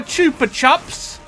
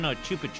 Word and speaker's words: Chupa Chups: They love my chupa chups. Wait, it's Chupa Chops? I mean, how do you say it? Chupa? Well, there's only one P, so it's Chupa. Oh, yeah. Chupa chop. Also, it's Spanish.